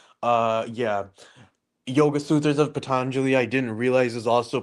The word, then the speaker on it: Patanjali: the yoga sutras of Pataneli. Is that how it's pronounced? Patangeli. I'm thinking of Frank Pantangeli from what is it Godfather but no this is Indian the yoga sutras of Patanjali you have con it